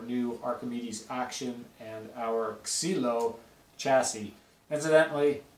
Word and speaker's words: Xylo: our cilo chassis incidentally cilo uh is the Greek word for wood basically so it's basically your stick that's what that's where the name came from x y l o pronounced kilo so the action let's